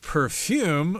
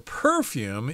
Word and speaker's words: perfume: talk about something called perfume or perfume you can pronounce it either way that's something usually that